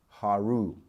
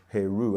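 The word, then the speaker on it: Horus: But the original story goes back to ancient Egypt, the person they're really talking about, who is Haru, or Heru, as some people pronounce him.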